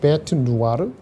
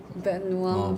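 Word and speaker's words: bête noire: 베트 누아르. 자, 무슨 뜻이에요? 무슨 뜻인지 알아요? 그 프랑스 말이랍니다. 근데 많이 쓰인대요. 베누아.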